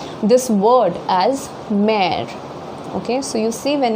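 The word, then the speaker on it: mère: letter, this word as mare, okay. So you see, when we pronounce it mare, the first E has a very prominent sound, but the last E does not have a prominent sound, okay, mare.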